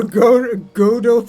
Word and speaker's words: Godot: Oh no, proper Godo pronunciation. Oh. Okay, alright. I think I will make a new save here. Another Godot game, or as we like to say.